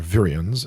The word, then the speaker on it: virions: the interface the cells prens and virions are virians as it's pronounced organisms social groups nations and empires are